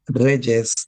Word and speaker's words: reyes: But when we need to follow the rule, we will need to add ES, and it will transform the pronunciation into a consonant instead of a vowel, and will be more like Reyes to me.